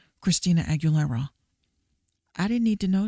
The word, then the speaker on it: Aguilera: like I didn't need to know that Christina Aguilera likes to uh I said her name wrong Christina Aguilera I didn't need to know that she likes